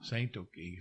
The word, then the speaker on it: Tsatoke: That's how you say it in Kiowa. Ah. Tsatoke.